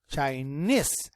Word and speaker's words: Chinese: chai china chai and here we say chinese chinese and the stress is in the second syllable that the reason is